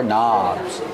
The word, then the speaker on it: knobs: are called n knobs remember with knobs you have a silent k at the beginning of the word these are knobs one knob you got